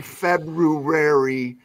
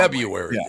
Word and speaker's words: February: would say February so didn't like it when they said it properly no the Fe February the the wrong way February the wrong way so when I do